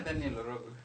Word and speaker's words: Daniel Orogo: Yeah, Daniel Orogo.